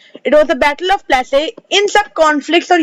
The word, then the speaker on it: Plassey: Plassey, the battle of Plassey. Okay, it was the battle of Plassey.